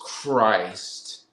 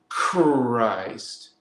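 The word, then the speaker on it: Krys: be a k r i it's like still pronounced the same way it's the sound that says Christ Christ it could be with a k or a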